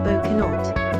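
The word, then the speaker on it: bocsánat: Hungary his typical catchphrases to say boan pronounced bonut the Hungarian word or sorry or excuse me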